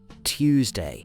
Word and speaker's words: Tuesday: Tuesday has a t and a u sound. Tuesday.